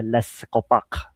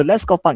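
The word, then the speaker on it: Les' Copaque: our society is a Les Copac. Right, that's how I pronounce it in French, right? So, so Les Copac is a studios which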